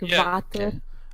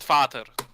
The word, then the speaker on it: Vater: It's Vader and Vater. Okay. Speak it out loud. It's completely different.